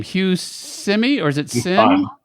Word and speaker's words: Syme: I'm not sure how to pronounce his name. Hugh Simi, or is it Sim? Syme.